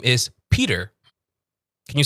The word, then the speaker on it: Peter: There's a D in there. So, it's P and then you say Dur. Peter.